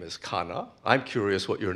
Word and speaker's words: Khanna: And my last name is Khanna, but Americans say Khanna.